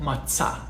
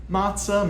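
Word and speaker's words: matzah: that we in Hebrew call matah matah mat right slight difference there but just mainly on the stress during the we also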